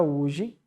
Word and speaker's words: hoje: já é totalmente contrário o hoje o h ele Você é mudo né o h mudo ele não entra como um fonema tá bom ou seja